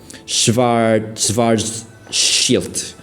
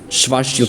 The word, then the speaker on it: Schwarzschild: Schwarzschild. It's Schwarzschild black hole, right? It's an R. It's an R. It's a German R. R. SCH. W is like a V. Schwarzschild.